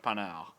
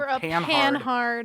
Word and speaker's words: Panhard: So we should also note that is spelled pan-hard if you're an dirty American. But it's a panel. But if you're a dirty American, you'll know pan-hard because of the pan-hard rod.